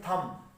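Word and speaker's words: thumb: जो बी है बीच में ये साइलेंट हो रहा है, खामोश है, अपनी साउंड नहीं निकाल रहा, ठीक है। और इसमें जो मेरे पास वावल आ रहा है शॉर्ट यू का, ठीक है, थम, थम,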